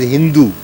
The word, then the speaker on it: Sindhu: Empire in 500 BC the Persians pronounce the Sanskrit word Sindhu as Hindu and thus the river